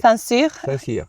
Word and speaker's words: Saint-Cyr: You have to help me to pronounce this. Saint-Cyr. Saint-Cyr.